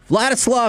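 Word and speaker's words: Vladyslav: Vlatislav Herkyitch is a skeleton athlete.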